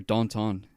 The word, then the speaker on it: Danton: things i watch the danton or danton as it's pronounced in french what the [ __